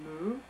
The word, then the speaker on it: Mu: disappeared called Lura right sometimes abbreviated as the single syllable moo uhhuh or me uh depending on who you speak to and that it was